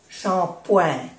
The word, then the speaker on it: shampoing: Esto se pronuncia ouin, shampoing.